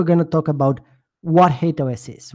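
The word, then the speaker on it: HATEOAS: So first of all, what is HateOS? And by the way, I pronounce it HateOS. I've heard it pronounced in other ways as well. I just personally gravitate towards HateOS.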